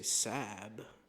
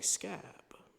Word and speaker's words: scab: But you don't say sab, you say scab.